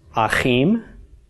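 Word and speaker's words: אחים: the final mem and this word will be pronounced Hakeem and Hakeem means brothers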